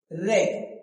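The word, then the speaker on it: wreck: रेक।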